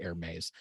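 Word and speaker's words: Hermès: what purses overpriced scarves if you pronounce it air maze uh everyone still knows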